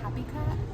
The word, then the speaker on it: Kaapicat: Kaapicat, spelled K-A-A-P-I-C-A-T, cat. Kaapicat. Hi everyone.